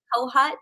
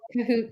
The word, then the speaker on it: Kohut: Yes, you know, when people ask me how to pronounce it, I say it's like you're in cahoots with someone, Yes, but Kahoot. drop the S, so cahoot. But some Kahoot. people say Kohut, which is fine too.